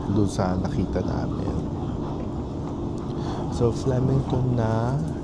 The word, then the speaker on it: Flemington: This train will stop at Flemington. Flemington. Mm. It rhymes with Remington.